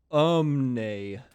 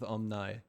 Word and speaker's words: Omni: this word in chat it's pronounced Omni um there we go now we know good to know I love how they say that after we've casted an entire match with omnai well match and a